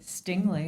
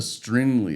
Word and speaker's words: Stingley: Stingley. Stingley. I thought there was a Stringley or something like that. No, no R.